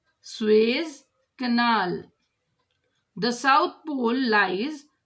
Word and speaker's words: Suez: Pronunciation Suez Canal.